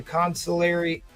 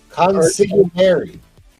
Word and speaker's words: consigliere: Strange is like the Consilaria. I can't ever pronounce that word. Consilaria, something. This is right-hand man for Doctor Doom. Consigliere. Consigliere, thank you.